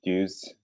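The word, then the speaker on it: DEWS: So what prompted the use of the EWS, I believe you pronounce it Dew's, test setup with the double edge wedges?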